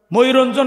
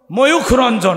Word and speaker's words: ময়ূখ রঞ্জন: আবার একটা ওই যে মুখুর নাকি, ওর নাম কি, ময়ূরঞ্জন আমার নাম কি গো? ময়ূখ রঞ্জন। আহা কি সুন্দর নাম, শেষে কাফের উচ্চারণ হবে নাকি গো? ময়ূখ রঞ্জন।